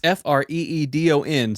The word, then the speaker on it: Freedon: It's Freedon, so it's like Didn't have to freedom. spell it for us. Well, it's like freedom, but with an N.